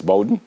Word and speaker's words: Bowden: It's Bowden? Bowden, Yeah, yes.